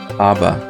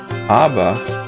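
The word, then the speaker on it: אבא: that indicates is that that b is a plosive b it's pronounced as a double b in other words so that's why the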